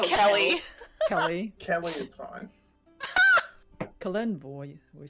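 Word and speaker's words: Kelemvor: Kalenvor, we say.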